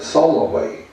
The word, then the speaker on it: Solway: Teddy goes and refers to me as Solway. I don't need the extra syllable in the middle.